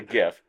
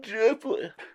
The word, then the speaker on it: GIF: that are like oh the Creator said is Je did they say it I think they did everybody that says that they say it like that and here's my philosophy that guy is totally trolling everybody that says that he's like oh yeah I call it gif yeah I think he's